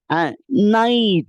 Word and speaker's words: knight: The initial K is silent. அப்படிதானே? நைட் அப்படின்னு தான் சொல்லுவோம். நைட் அப்படின்னு சொல்றது இல்ல.